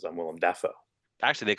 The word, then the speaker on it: Dafoe: That's right, Willem Willem Dafoe. Dafoe. That's how you say his real name. That's how you say his name.